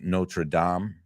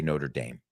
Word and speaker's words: Notre Dame: we talk about it the real pronunciation is Notre Dame but in the United States we say Notre Dame and I think it